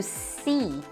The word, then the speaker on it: see: See com um I bem longo, apesar de ser escrito com duas letras E, elas têm juntas aí um som de I longo, ok? To see.